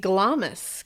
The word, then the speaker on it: Glamis: Well, my final one and what we'll end this on uh is going to be Glamus Castle or Gloms. I was going to say Gloms.